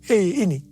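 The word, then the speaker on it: ה: yang terbentuk pada huruf He ini merupakan gambaran celah atau jendela mulut Tuhan yang menghembuskan rohnya perhatikan juga cara pelafalan huruf ini pun seperti orang yang menghembuskan nafasnya Hei nama Abram berubah menjadi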